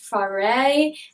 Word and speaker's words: Fauré: It's set in 3 parts: emeralds, rubies, and diamonds, with music by, I think it's pronounced Fauré, and then Stravinsky and Tchaikovsky.